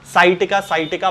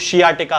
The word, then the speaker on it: sciatica: है, तब उसके कारण शियाटिका नाम की एक बीमारी हो जाती है जिसे कि साइटिका बहुत सारे लोग कहते हैं, हालांकि इसका सही प्रोनाउंसिएशन जो है वो शियाटिका होता है।